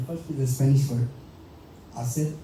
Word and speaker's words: hacer: is a Spanish word, hacer algo, H is silent.